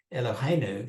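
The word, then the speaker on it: אלהינו: a shorter version so Elohim Elohim new is really hard to say elohenu flows off the tongue I'm sure you've noticed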